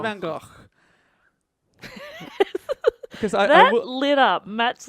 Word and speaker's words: Van Gogh: I just think as No, long I as reckon we, you I should think do the real pronunciation, Dave. Vincent Van Gogh.